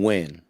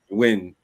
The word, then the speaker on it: Nguyen: believe you pronounce her last name Win. Yeah, Nguyen. I mean Win.